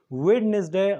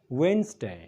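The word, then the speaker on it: Wednesday: ځل بیا موږ سره د ورځې نوم دی ویډنسډے غلط تلفظ دی غلط پرونسیشن دی دا ویل کېږي د چهارشنبې ورځې ته خو د دې صحیح تلفظ دی ویډنسډے ونه وایئ وینسډے یو ځل ما سره ووایئ وینسډے او اوس د خیالي ورځې ته څه ویل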